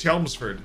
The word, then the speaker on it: Chelmsford: Oh, you said it right. First time I saw it, I said Chelmsford. I mean, it might be. I don't know. No, it's Chelmsford. I've been flambéed in the chat for calling it Chelmsford.